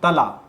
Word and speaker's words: तला: leader I think वो थला कह रहे हैं इस शब्द का उच्चारण थाला या थाली नहीं है तला थला तला तला व